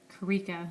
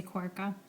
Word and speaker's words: Karika: Okay, so my real name is, and some of you might wonder why it's K Korka, or Karika is the pronunciation, but a lot of people say Korka.